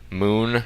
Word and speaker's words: Mun: to uh the mun moon right there it's spelled mu N I think it's still pronounced Moon actually uh so you